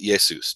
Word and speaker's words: Jesus: a J in English nobody pronounced it J Jesus they pronounced it yesus just like in Greek over time people